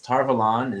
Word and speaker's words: Tar Valon: this is one of the really big ones tarvalan is the home of the white tower which